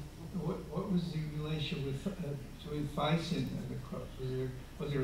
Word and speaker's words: Thyssen: Or Thyssen, as they pronounce in Germany.